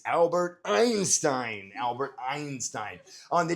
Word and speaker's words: Einstein: Albert Estienne. Close. Very close. Good job. Gang mark, it's Albert Einstein.